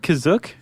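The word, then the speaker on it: Kashyyyk: Kazuk, that's how it's pronounced in the episode, the holiday special, but it's also pronounced different ways other times. I would have pronounced it cash e.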